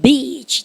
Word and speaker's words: beach: 발음 길게 하는 건 내가 얘기해줬습니다. 그죠? 그래서 해변에 on the 시작. on the beach. 짧게 하면요. 아주 심한 욕입니다. 아시죠? 힘듭니까? 그래서 더 이상 얘기하지 않겠어요. 암캐라는 뜻이 됩니다.